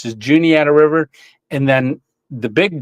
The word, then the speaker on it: Juniata: Juniata River, it's not, a lot of people mispronounce it, but it's just Juniata River.